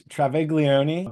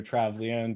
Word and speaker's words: Travaglione: your last name again it's Trav Leone but I always say it when I'm talking and introducing most people I just say Joe Travon to give my American